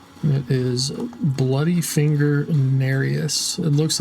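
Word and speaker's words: Nerijus: And it is Bloody Finger Narius. It looks like Narajis, but it's pronounced Narius.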